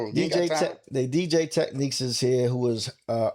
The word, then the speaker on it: Technics: Technique or techniques. Uh, it's with a S. I prefer with the S. People just say technique because to them the S is silent.